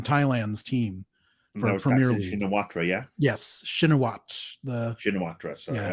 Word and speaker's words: Shinawatra: Shinawatra, yeah? Yes, Shinawat. Shinawatra, sorry. Shinawatra? You don't pronounce the RA? Okay, Shinawatra. Okay, thank you. I've been saying Shinawatra my entire life, so Shinawat.